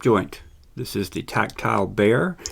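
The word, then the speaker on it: Bexar: this is the tactile bear it's actually spelled b-e-x-a-r and uh but it's pronounced bear it's named after the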